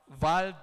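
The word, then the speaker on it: Wald: So the first one is the valve test. You see, because it's, I think, a German or something, so the W should be V when pronounced. So it's a valve test.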